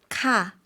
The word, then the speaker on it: ค่ะ: 어떻게 대답한다 그랬죠? 카, 네, 끝을 내려준다고 했어요. 반면에 여성은 물어볼 때는 끝을 올려준다라고 했거든요. 뭐뭐입니까? 라고 물어볼 때는 카, 네, 끝을 올려주시면 되겠습니다.